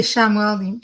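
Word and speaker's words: Chamuel: I say Shamuel. Some people might pronounce it Shamu.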